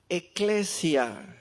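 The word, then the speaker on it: ἐκκλησία: Enseguida la palabra iglesias es eclesia en griego así se pronuncia, literalmente es asambleas.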